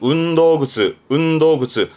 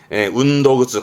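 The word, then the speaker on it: 運動靴: 발음은 운도그츠. 전부 다가 그렇죠. 땡땡 붙어서 발음이 운도그츠 과거처럼 여기에 니골이 땡땡이 붙습니다.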